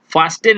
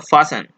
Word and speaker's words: fasten: फास्टेन इसको नहीं पढ़ेंगे, ये एक्चुअली ऐसा ही है, FASTEN। ठीक है, तो इसको टी यहाँ पे प्रोनाउंसिएशन में नहीं यूज होता है, इसको बोलते हैं हम लोग फासन।